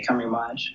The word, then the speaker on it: Camerimage: The Polish say Camerimage.